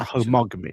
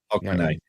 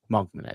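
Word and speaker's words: Hogmanay: Is that that homogamy? Is that right? Is it might butcher the name? Mogman. Mogman.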